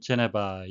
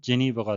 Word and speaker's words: Geneva: As long as Washington lives sanctions crippling Iran's economy.이란 경제를 마비시키고 있는 미국이 제재를 해제한다면 우리말로는 제네바 영어식의 발음은 제니버가 되겠고요. 테란이라고 하는 것도 영어식 발음은 테란이 되겠습니다.